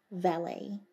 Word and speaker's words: valet: Bates is Lord Grantham's valet, or as it's pronounced in England, his valet.